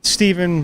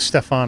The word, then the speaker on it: Stephan: at your spelling s-t-e-p-h-a-n is it steven like how do we pronounce it steven but uh we can go with stefan if you want to be um real